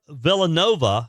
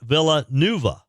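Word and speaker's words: Villanueva: Sheriff Villan Nova, not Villain Nuva.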